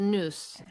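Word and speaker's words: nous: You're saying news. N O U S. N O U S. It's the noose and that's the space.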